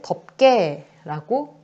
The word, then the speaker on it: 덮개: 그래서 덮개를 덮개라고 발음을 한다라는 거야.